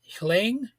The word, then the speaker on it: Min Aung Hlaing: So, Beijing's guest list includes Iran's President Masoud uh, Pezeshkian, Indonesia's Prabowo Subianto, Belarus's Alexander Lukashenko, Myanmar's Min Aung Hlaing. Actually, I think it's pronounced like Ling, and others aligned with Russia or China.